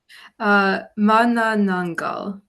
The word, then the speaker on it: Manananggal: How do you pronounce it? Manananggal.